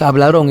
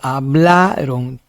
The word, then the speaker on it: hablaron: Hablaron no es hablarón es hablaron.